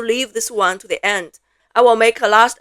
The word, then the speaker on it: 一: E, the character that means number one, usually we would pronounce it as E.